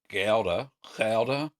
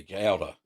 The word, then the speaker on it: Gouda: Gouda. I'll close with a soft G. Gouda.